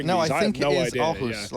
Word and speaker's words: Aarhus: Like another one, Aarhus? Aarhus, yeah. Aarhus. And I'm probably butchering these. I think it is idea. Aarhus.